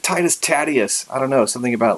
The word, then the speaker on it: Titus Tatius: would be t2 statues sometimes we call them tightest adieus or titus tatius is some how other people pronounce it I kind of like tightest Atias I don't know something